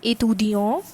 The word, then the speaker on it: étudiant: Here E is not used and here E is used, and next difference is the difference in the pronunciation. This is étudiant and this is étudiante.